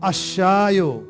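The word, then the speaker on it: الشاي: हैं अशयो द टी अब आपके मन में कन्फ्यूजन होगा कि पहले जब लगाया अल हुब्जो तो लाम पढ़ा जा रहा था। अशयो में अलिफ तो पढ़ा जा रहा है और लाम नहीं पढ़ा जा रहा है।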